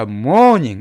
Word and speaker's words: mourning: 자, morning, 이거 발음은요 아침 morning과 똑같습니다. 자, mourn이란 단어가 성경에도 많이 나온 단어죠.